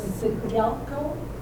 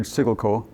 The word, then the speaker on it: Siggelkow: that sickle cow was, the correct pronunciation was Sigelco. So Gelco, it could be. I always heard Sigelco.